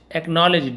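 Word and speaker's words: acknowledge: एक्नॉलेज, डी यहाँ पे silent होता है, स्वीकार करना, उसे एक्नॉलेज बोलते हैं।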